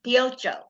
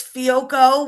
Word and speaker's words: Fiocco: So I'm going to guess Grace Pioccio. Okay. Fiocco is very close. It's Fiocco with a hard C.